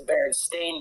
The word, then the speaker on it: Berenstain: Yeah, and then they switch it to Berenstain Bears, and that's how it's pronounced.